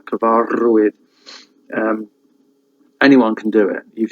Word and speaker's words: cyfarwydd: They've got like a trilled R, and that's like gor, that sound. Gorchover, Cyfarwydd, which is a storyteller. Cyfarwydd.